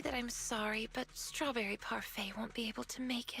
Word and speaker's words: parfait: and Yidari is strawberry parfait. It feels weird to say Parfait. The word is French. It's pronounced parfait which means perfect by but yeah anyway